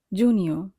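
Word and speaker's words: giugno: Junior, junior বানানটির ক্ষেত্রে একটু খেয়াল রাখবো, সেটি হচ্ছে জি ই উ, এই ৩টি বর্ণ মিলে হবে জু। আর জি এন এ এর উচ্চারণ হবে নি, আর ও উচ্চারণ তো অ এর মতোই হবে, তার মানে হচ্ছে জি ই উ জু, জি এন এ নি অ, নিয়, জুনিয়।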